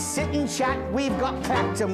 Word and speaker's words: Clacton: And in the little parlour where the ladies sit and chat, we've got Clacton with the accent on the clack.